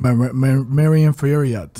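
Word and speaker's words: Manon Fiorot: Marion Furiat. Yes. That's how you pronounce her name.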